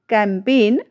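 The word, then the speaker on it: campaign: यहाँ पर जो हमारा रूल्स कहता है वो क्या कहता है, जब किसी शब्द में एन से ठीक पहले जी आता है तो जी हमारी जो वो है वो साइलेंट रहती है।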